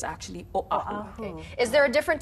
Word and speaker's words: Oahu: live on Oahu, is to make sure we pronounce it Oahu. Oahu. Yeah, right. I had to change my way because every time, just because I'm a pidgin speaker first, right, I would use the W, Oahu.